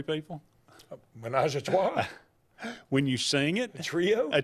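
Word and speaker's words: ménage à trois: believe it's pronounced menage a trois.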